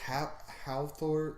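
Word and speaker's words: Hafþór: Or Halthor. It's like HAL and then it's like the weird P thing, but that actually just makes the TH pronunciation.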